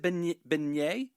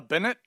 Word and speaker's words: beignet: Say that word again. But is it beignet? There you go. Did I get it? Beignet? Beignet. Yeah, look at me. Not a beignet. Yeah, no, I said I had beignet. A Bennett. Okay, Bennett's? yeah. Really hit that last T.